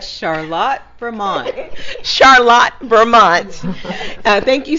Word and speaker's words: Charlotte: up I'm gonna go to Lydia she's gonna pronounce the city I you know correctly Lydia oh yeah right Charlotte Vermont Charlotte Vermont thank you so much and